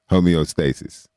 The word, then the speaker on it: homeostasis: Shout out to Dawn and David, especially for letting me know how to pronounce that properly. Homeostasis.